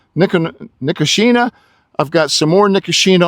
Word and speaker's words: Nicotiana: I always said Nicotina because it was the tobacco plant, but I think I'm saying it correctly now. Nicotiana.